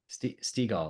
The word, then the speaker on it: Steagall: Uh we have Stagall. Is that how it's pronounced? Stagall or Steagall? Stagall. Mhm. Steagall. Like seagull. Yeah. There you go. Steagall.